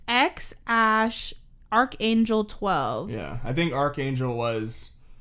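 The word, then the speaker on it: X Æ A-12: It's pronounced. Isn't it X Ash something 12? Oh, I thought I wrote it down. It's X Ash Archangel 12.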